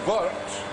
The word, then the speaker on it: wort: So this is called Vort, or Vort, as it's more properly pronounced.